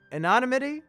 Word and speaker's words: anonymity: odd amenity a nun somebody told me I pronounced that wrong Anan omit and not a MIDI and not a MIDI I think I'm adding extra letters a non a MIDI anonymity stupid word stupid for